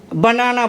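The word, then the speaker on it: banana: British में बनाना बोलते हैं, बनाना, और अमेरिकन में बैनाना बोलते हैं, अमेरिकन में बैनाना बोलते हैं।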